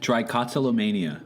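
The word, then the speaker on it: trichotillomania: has true kata trick Chikatilo mania am i doing a good job on that how do you think you pronounce that it's tricot solo mania yeah which is a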